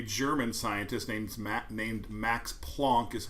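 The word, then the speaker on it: Planck: scientist named named max plonk is how you pronounce it so i it's kind of hard to say plonk so i just say plank so this is plank's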